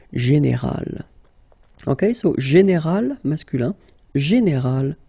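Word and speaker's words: générale: Okay, but then phonetically it's quite interesting because you don't make any difference. You will get so général at the masculine form, and it will be exactly the same thing at the feminine form, général.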